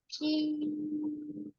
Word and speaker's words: ش: হয় জোরে শিন মাশাল্লাহ এই শিন অক্ষরটা কোন জায়গা থেকে উচ্চারণ হয় বললাম জিহ্বার মাঝখান তার বরাবর উপরে তালুর সঙ্গে লাগিয়ে ঠাসা শব্দ করে আপনি উচ্চারণ করবেন তিন আলিফ টেনে পড়তে হবে সবাই আবার একসাথে উচ্চারণ